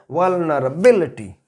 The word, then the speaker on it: vulnerability: before on we, and when we speak that word in a which is in a noun form, then it will be pronounced in that way, vulnerability. So word stress will come before we, vulnerability.